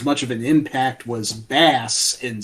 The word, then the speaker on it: Bass: Slapping the bass. Thank you, Getty. These are all musical puns. It's bass, obviously. But it's pronounced Bass in Mega Man 8's cutscenes.